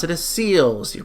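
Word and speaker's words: Celes: The Japanese name is actually Ceres, like C-E-R-E-S. But because in Japanese there's no difference between R and L, they made it an L instead of an R. So I'm going to pronounce her name as Celis, because I feel like Celis is the closest to Ceres, but still preserving the L.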